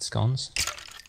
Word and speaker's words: scone: all had gone that some people say it's going because of the word bone and everyone who tries